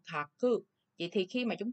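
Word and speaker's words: 書く: Chữ thư thì chúng ta đọc là làm gì? Kakimasu, đúng không? Kaku.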